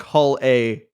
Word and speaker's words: Hull A: is everyone saying it's Hulla? I don't know, man. I started calling it Hulla at you go.